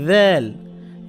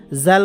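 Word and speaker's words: ذال: এটা দাল, নোক্তা থাকলে হয়ে যাবে দ্যাল, দাল দ্যাল দ্যাল। জাল বলা যাবে না, কেমন? জাল বলাই যাবে না, জাল বললে ভুল হবে।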